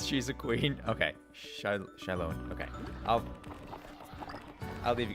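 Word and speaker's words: Xilonen: we all know uh z zolin z zonen that her it's pronounced Shalon yes wow I was not even close it's meso American so the the x is like a a sh sound interesting okay keep her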